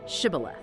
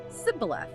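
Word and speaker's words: Shibboleth: person crossing the river pronounce the word Shibth. But the Ephrait's native dialect didn't have this sound. They physically could not say it. They said Cibth.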